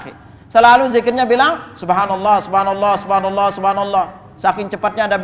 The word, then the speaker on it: Subhanallah: wa nah ini haknya Perhatikan kalimat Subhanallah rata-rata di masyarakat kita itu keliru cara bacanya lihat aja Antum di